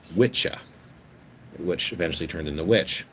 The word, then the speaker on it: Wicca: not pronounced wicca because apparently in old english it's pronounced witcha which eventually turned into